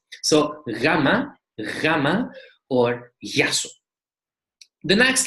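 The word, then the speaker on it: γεια σου: will be very soft, like yasu, yasu, or just ya, which means hello or goodbye, yasu. So gamma, gamma, or yasu.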